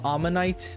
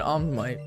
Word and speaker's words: ammonite: It's called ammonite. That's how you pronounce it. I've always said Omite cuz I say it fast so it sounds weird but yeah.